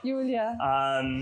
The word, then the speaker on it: Julia: I just want to make sure I got the pronunciation right. Julia.